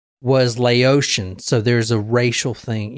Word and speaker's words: Laotian: it's Laotian. Oh. Yes. Yeah, like Haitian or whatever.